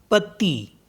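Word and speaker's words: petit: मनवी मनवी मतलब मिडनाइट तो लास्ट का टी साइलेंट हो गया ऐसे ही पी ई टी आई टी पति पत्ती मिस होता है लिटिल नेक्स्ट वर्ड है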